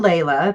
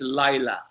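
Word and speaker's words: Laila: right is it Layla it's Lila Lila okay sorry you know we the a is silent in Norway so we called Iowa but it's felt a I so most people here say Leila but it's actually Lila yeah we're we're hooked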